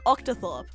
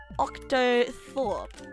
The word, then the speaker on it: octothorpe: these nuts jokes it's just it's just an octathorb octothorpe oh wait October wait wait wait octothorps no oh no you spell it like o c t o t h